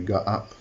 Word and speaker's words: Gaap: or go up um the first a has two little dots at the top so it's a r up as far as I'm concerned um that's how I pronounce it anyway go up okay starting with the